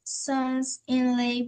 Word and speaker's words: sons-in-law: Were Lot's sons-in-law blinded as well? Very good. So that middle word, it's sons because it's plural. So pronounce the S, sons-in-law.